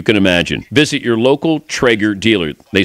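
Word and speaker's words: Traeger: or charcoal probably not the most delicious option Trager grills use real 100% hardwood fuel to grill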